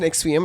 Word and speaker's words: NXIVM: It's pronounced NextVM.